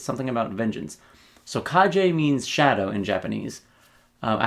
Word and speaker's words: Kage: he was actually right this is how to pronounce it kaje um or Kaji and that's Japanese for